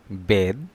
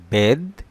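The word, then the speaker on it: بيض: বেদ। বেদ আরবি শব্দ এর অর্থ ডিম। বেদ আরবি শব্দ এর অর্থ ডিম। বেত। বেত খেয়াল করেন, বেত এর শব্দ, এটি বাংলা অর্থ বাড়ি বা ঘর। একটু খেয়াল করেন, বেদ, বেত, বেদ, বেত।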